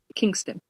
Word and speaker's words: Kingstown: It's in South Kingstown. Kingston. Okay. It's spelled Kingstown. Kingstown. South Kingston. We say things a little different.